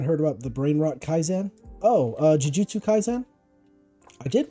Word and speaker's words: Kaisen: Kaizen is the pronunciation.